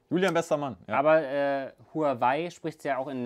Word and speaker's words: Huawei: Huawei ist sogar chinesisch ausgesprochen, Huawei ist deutsch ausgesprochen. Das ist so das Ding.